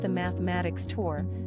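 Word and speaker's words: +–=÷× Tour: week when his equals divided by X Tour pronounced the mathematics tour swung into the Melbourne cricket ground the largest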